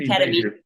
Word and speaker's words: ketamine: So first of all, so ketamine, I'll just correct you on the pronunciation, ketamine.